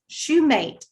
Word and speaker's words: Shumate: Am I pronouncing his name correct? Shumate, okay, is a first place winner of the